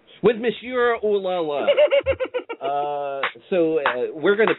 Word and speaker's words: Monsieur: It's Monsieur. Why can't anybody pronounce that right? With Monsieur Ooh-La-La.